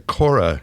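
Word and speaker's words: Kore: So, we're listening to Kora. You said that's how you pronounce it.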